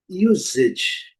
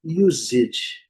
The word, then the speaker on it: usage: Então, usage, usage, usage. Aqui nós temos, né, duas pronúncias, né, o S com som de S, mas alguns dicionários também trazem o S com som de Z.